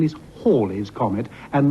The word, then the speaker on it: Halley's: is about to reappear in 1986 the correct pronunciation is Halley's Comet and not hell is Comet but that is the subject of the